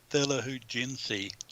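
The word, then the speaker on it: Thela Hun Ginjeet: Now the first track on side one, Tilla Gunji, is that pronounced? Thilahujinsi.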